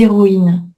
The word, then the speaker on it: héroïne: Donc les héros, les héroïnes. Hos aspiré. Héroïne non.